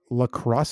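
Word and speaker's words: La Crosse: came from France yeah uh lacrosse crr o lacrosse lacrosse no Lacrosse lacrosse say it like that like the game like the game with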